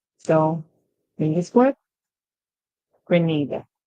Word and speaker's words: Grenada: next word isada and a lot of person pronounce it as Granada Granada you know and that's very funny people